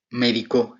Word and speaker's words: médico: Médico, esta es una palabra grave, ya que sería en la sílaba di donde recae su acentuación.